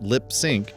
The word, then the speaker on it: Lips Inc.: Lips Inc., yep, that's pronounced LipSync, wasn't actually a full-time band, but was a studio project created by a guy named Steven Greenberg.